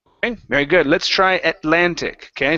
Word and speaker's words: Atlantic: very good let's try Atlantic okay so watch the T and the L here instead of atantic ATL Atlantic Ocean Atlantic Ocean there you